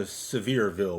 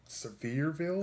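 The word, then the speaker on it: Sevierville: I've been to Severeville, which is like right next door to Dollywood. Severeville. I think that's how it's pronounced. It's like it's it's spelled s e v i e rville.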